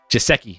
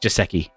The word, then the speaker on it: Gesicki: It's pronounced Gesicki, not Gesicki. And again, Chris, it's Gesicki. Gesicki.